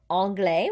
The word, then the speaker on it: anglais: not pronounce it okay so anglais we don't hear that s at the end because s is not one of the consonants in careful paul means takes he